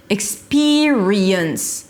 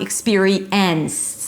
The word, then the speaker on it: experience: Ik-SPEE-ree-y'ns. y'ns, y'ns. It's not ik-SPEE-ree-ens. There is no E sound here. Ik-SPEE-ree-y'ns.